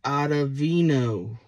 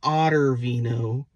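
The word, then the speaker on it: Ottavino: one I have is adavino adavino say it with me adavino not otter Vino adavino and the last one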